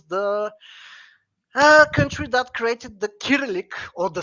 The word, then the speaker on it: Cyrillic: Bulgarian Empire was the country that created the kyrillic or the Cyrillic if you insist of the wrong pronunciation alphabet is it acrylic is that how